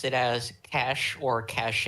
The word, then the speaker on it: cache: It's the cash.